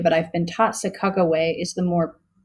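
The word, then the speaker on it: Sacagawea: lot of people say sakajawia but i've been taught sakaway is the more is the more proper native pronunciation so aided by chicago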